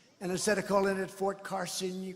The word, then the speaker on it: Fort Carson: place like this, and instead of calling it Fort Carson, you call it Fort Crasson.